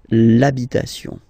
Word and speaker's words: l'habitation: for the masculine part, even if you've got this H, then the first sound you hear is A, okay, so for the same reason you will have to take this A away, and then you get this l'habitation, l'habitation, okay, and then